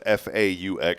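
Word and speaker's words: Phở: My favorite crab is f aux crab. It's really good. Say it. Faux crab. Faux. Faux crab. F. Faux crab. Faux. That means that means it's fake, right?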